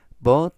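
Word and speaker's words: bought: 나는 뭐 했어야 했는데 기본 패턴에 but it 이때 but 하면 by bu by 사다 구입하다라는 동사의 불규칙적 과거 분사가 되겠습니다. 이때 GH는 무음이라 발음을 하지 않고요. but라고 발음하시면 되겠습니다.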